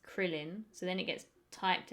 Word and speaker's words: Krillin: This is like in Dragon Ball, like Krillin, but it's spelled like Karurin, but it's Krillin.